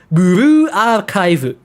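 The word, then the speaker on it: ブルーアーカイブ: But I'm close, because I remember there is Blue Archive, which is Buru Archive. Buru Archive. Because I thought it was Fu, but no, it's Boo.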